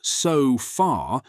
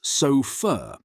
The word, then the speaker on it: sofa: Right, or the last syllable of sofa. It's not so far, it's so fur, and it can be represented by any vowel.